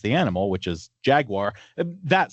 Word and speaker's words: Jaguar: according to the company, Jaguar. Brits would say Jaguar without the R ending.